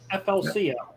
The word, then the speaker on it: FLCL: It's a great Spell that. FLCL. FLCL. Yeah, but it's Fooly Cooly.